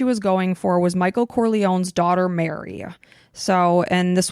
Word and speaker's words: Corleone: But one of the main characters is Michael Corleone, and I'm hoping I'm saying that properly.